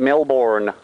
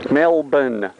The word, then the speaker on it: Melbourne: And you can give yourself away very easily as a tourist by calling it Melbourne. It's Melbourne. Melbourne. Everybody say it with me. One, two, three. Melbourne. Now, if you wanted to spell it phonetically, it would be M-E-L-B-N. Melbourne. Okay, Melbourne. Not Melbourne. Get Melbourne out of your mind.